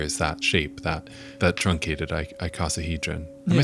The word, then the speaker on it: icosahedron: into the like scuba bell looking thing, and inside there is that shape, that truncated icosahedron.